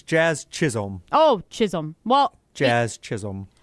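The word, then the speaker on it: Chisholm: Am I pronouncing those names correct? Uh, he might have wrote Chris, but it's Jazz Chisum.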